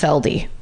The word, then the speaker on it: Feld: Wayne Robert Feld uh pronounced feldy I couldn't know until I got to that part of the parentheses FLD f e l d e f okay uh